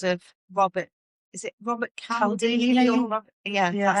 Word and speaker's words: Cialdini: Is it Robert Cialdini? Or Robert, that's how you say it, isn't it? Cialdini.